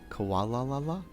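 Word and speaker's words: Komala: Koala La La?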